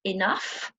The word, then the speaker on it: enough: Okay, the third ough pronunciation can be pronounced like the sound uff. So you're probably familiar with the word enough, rough, tough. So here we do say an N sound and it's a uff sound.